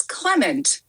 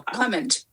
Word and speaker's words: Clement: It's Clement. Accent on the first syllable. Clement.